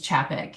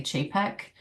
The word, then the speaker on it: Chapek: My last name's Chapek. It's um c h a p e k and everyone's wants to say Chay-pek.